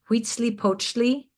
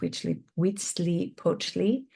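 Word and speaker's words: Huitzilopochtli: in the Mashika cosm cosmology were Wheatzi Pochi which was the sun god and I have an image of wheatly wetsley poachi and that is a very long word but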